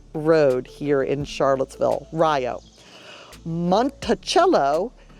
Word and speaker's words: Monticello: Monticello, Monticello, not Monticello, Monticello.